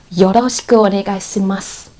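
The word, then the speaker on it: よろしくお願いします: But if you know the hiragana and katakana letters and you know how to pronounce them perfectly in the second stage, you will never pronounce like that. Trust me. So let's try again. This, you will know, is yoroshiku onegaishimasu or yoroshiku onegaishimasu. Like when they want to emphasize the su.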